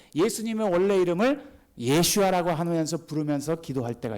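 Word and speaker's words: ישוע: 그런 생각이 들어요 자 예수님의 이름은 이렇습니다 예슈아 요게 히브리 말입니다 아들을 으리니 이름을 예수라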